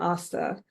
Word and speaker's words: Astha: Um, an easy way to say my name is, "Have you seen the movie Terminator?" Most people have. They say, "Yes." I'm like, "Do you remember what Arnold's most famous line is?"